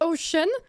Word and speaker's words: Ocean: Dans Pacific Ocean, il y a 3 C. Les 3 ne se prononcent pas pareil. Pacific. Le C-I, ça se prononce C. Le C de fin de Pacific, c'est que. Et Ocean, c'est CH, alors que c'est un C.